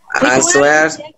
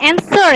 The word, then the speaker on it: answer: Answer, orientation. Okay, are you sure orientation? Okay. Yes. Bacanya answer ya, bukan answer. Oke. Answer. Yes. Wah-nya hilang. Answer.